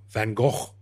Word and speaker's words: Van Gogh: fanfare recently i'm the the van gogh van gogh if i want to say it properly uh exhibit is as